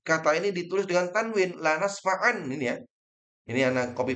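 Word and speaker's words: لنسفعا: Tulisannya diganti tanwin. Bacanya sama, lanasfa'an.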